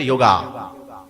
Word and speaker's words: योग: अनुकूलता पर ए साइलेंट अब योग में भी वाई ओ जी ए तो लोग क्या बोलते योगा योगा नहीं है योग है ए साइलेंट कभी भी अधिकांश